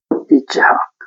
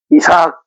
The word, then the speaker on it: 이츠학: 이츠학 그래도 반복 뭐 단순 집중 반복이니까 이츠학 이삭 우리 이삭 이렇게 발음하는데 원래는 이츠학이에요.